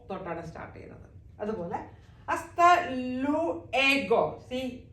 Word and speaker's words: hasta luego: ഹസ്ത always started hasta. Do not pronounce H. H always silent, just like see hola. H ഇവിടെ silent ആണ്. നമ്മൾ ഓ തൊട്ടാണ് സ്റ്റാർട്ട് ചെയ്യുന്നത്. അതുപോലെ hasta luego.